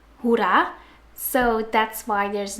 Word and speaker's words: hoera: So in Dutch we pronounce hooray as hoera.